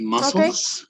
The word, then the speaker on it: muscles: had a little mistakes on some words about pronunciation it will be muscles okay muscles muscles okay muscles yeah it's like